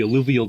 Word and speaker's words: alluvial: I hope I pronounced this shit right. Is it alluvial?